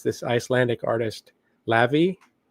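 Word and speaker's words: Laufey: And uh we've listened to it a couple times now and it's this Icelandic artist Lavy spelled L A U F E Y but it's pronounced Lavy and uh wow this is so so good.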